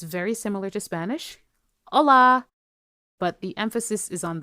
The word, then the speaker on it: olá: It's very similar to Spanish: Olá!